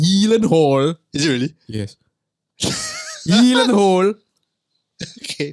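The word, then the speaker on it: Gyllenhaal: guy you got mysterious who's real surname is pronounced healing Hall is it really yes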